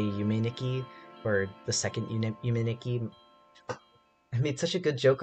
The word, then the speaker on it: Yume Nikki: Also, someone on stream Tuesday pointed out that Yume Tuki is actually pronounced Yume Nikki because tu is ni in Japanese, and I like completely failed and probably disappointed my Japanese teacher in spirit.